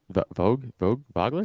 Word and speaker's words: Vogler: Is that how you pronounce his name? Vogler. Yeah. Vogler?